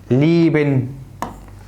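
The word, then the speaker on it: lieben: طيب الاي اي تنطق اي مكسوره، زي كلمه زي، زيبن، ليبن.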